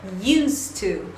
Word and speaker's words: used to: Agora, a pronúncia disso nunca vai ser used to. Nunca. Sempre vai ser used to. O que vai acontecer? Você não vai pronunciar o D desse used. Você só vai pronunciar o T do to.